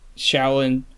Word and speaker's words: Xiaolin: Pronouncing it wrong. Me. Shaolin.